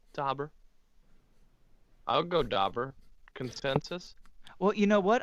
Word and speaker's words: Daubers: gonna get that joke but it's dobber but it's spelled with an a it's d-a-u-b-e-r-s bingo oh oh my